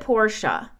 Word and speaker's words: Portia: Is it Porsche or is it Portia? Well, Portia was the originally way to pronounce it. It's from Greek mythology, but it's also from